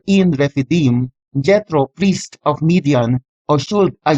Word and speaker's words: Midian: The Hebrew text for Midian is Mem Dalet Yod Nun and is currently pronounced as Midian with the Yod used as consonant.